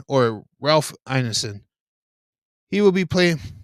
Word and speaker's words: Ralph Ineson: I believe it's pronounced Rafe. Rafe Ineson or Ralph Ineson. He will be playing. He's British, so it's probably Rafe.